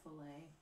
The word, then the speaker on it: fillet: Is that like a fillet? It's spelled F-I-L-L-E-T, but we pronounce it fillet. At least I do in the modeling industry, right, Keith?